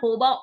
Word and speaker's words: jojoba: Actually, it is called hoba oil, but people pronounce it like jojoba oil.